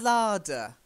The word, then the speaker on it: larder: And then the larder. The larder. Oh, long A. So like a long A here. A larder. That's it. And make sure you get that D sound.